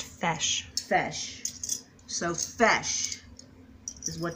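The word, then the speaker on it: feis: It's pronounced fesh.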